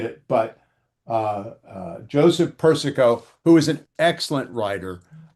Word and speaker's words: Persico: I picked up a book uh by Joseph Persico. Am I pronouncing that one right?